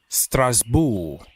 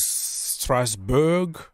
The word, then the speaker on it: Strasbourg: buying Strasbourg in France stress bull that's how we pronounce it but you can pronounce this stars stressberg or whatever but it looks like